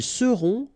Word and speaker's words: seront: end, et serez, ils seront, final T not pronounced, elles seront.